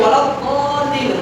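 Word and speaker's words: الضالين: এই যে ওয়ালাদ-দাল্লিন দালটা করতে উচ্চারণ হবে। ছোট ছোট বাচ্চারা কত সুন্দর উচ্চারণ করে, কেউ জালিম বলে কেউ দলিন বলে, একেবারে মিস্টেক।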